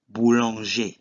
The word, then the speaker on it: boulanger: The last word will be boulanger, which is a baker. And in this case, ER is pronounced E.